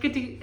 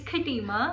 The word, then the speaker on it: Khatima: It's not Katrina. Okay, it felt like Katrina when you said it. That's the reason I started laughing. Excuse me for the bad pronunciation. It is? It's Khatima. Khatima, guys.